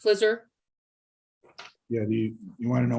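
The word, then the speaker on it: FLISR: who came up with flizzer how are we pronouncing the f-l-i-s-r yeah flizzard that's correct flizzer yeah you want to know what it means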